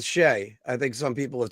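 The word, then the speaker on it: Skjei: Brady Shea, you can't spell giveaway without, giveaway rhymes with Shea.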